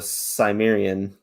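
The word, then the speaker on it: Cimmerian: finally released the conan the simerian that's how you pronounce it i'm pretty sure they were um because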